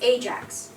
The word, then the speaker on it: Ajax: demon and this is it is Ajax right Ajax please not ax please so what is this